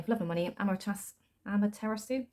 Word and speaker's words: Amaterasu: So this is, cannot pronounce that name for love and money, Amaterasu, sounds like tiramisu, right? But it's not.